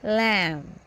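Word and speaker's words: lamb: जिसमें B silent है लैम लैम बी नहीं पढ़ेंगे बी इस में साइलेंट रहेगा लम लिम लिम बी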